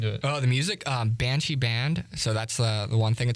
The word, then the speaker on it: Banchi: It's like That's spelled BANCHI. Okay, not so like if you look the- up not like Banshee, the ghost.